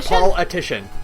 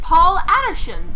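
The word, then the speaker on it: Paul Atishon: oh by the way is that how you're pronouncing his name Paul atian okay cuz I was pronouncing it Addison and I guess like that's why it took me a minute to get the pun I was saying like Paul Addison you know like a normal name and then I kind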